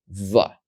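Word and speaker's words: ב: is without a DOT the letter with the dot is pronounced ba and then the letter without the dot is pronounced VA we're going to look at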